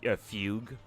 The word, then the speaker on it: Fugue: F Fugue needs oh apparently her name is just pronounced Fugue which is kind of